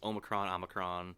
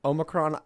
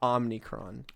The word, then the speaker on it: Omicron: Well, Star Trek has several ways of pronouncing it. It's Omicron. Omicron. I've heard both, but I've heard that Omicron is correct, not Omnicron.